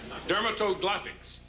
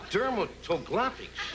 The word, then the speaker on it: dermatoglyphics: Dermatoglothics. What? What is that? Dermatoglothics. Dermatoglyphics.